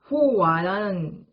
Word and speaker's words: 猴娃: 오늘 준비한 이야기는 중국어로 이제 발음을 하면 호와라는 건데요.